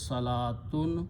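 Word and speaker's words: صلاة: worship or pray and the word is salatun wow is not pronounced qualities of this word is that Salah this wow is not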